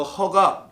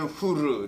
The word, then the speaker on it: Hur: HUR인데 우리는 영어 발음으로 영어로 쓰시는 그 분들께서 발음을 허라고 해가지고 벤허. 그래 우리 교회 허장로님이 혹시 벤허 모르겠습니다. 훌이에요 원래는 훌. 우리 이게 한국말 성경으로는 히브리어는 후르 이렇게 합니다. 아무튼 그 후르, 그 훌, 그 벤허의 허.